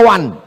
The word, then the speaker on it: one: Tulisan nggak sesuai dengan bacaan. One dibaca wan.